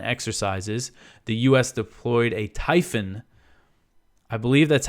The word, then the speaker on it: Typhon: the US deployed a Typhon I believe that's how you pronounce it it's typ ho n it looks like it should be typhoon but there's only one o so I'm GNA say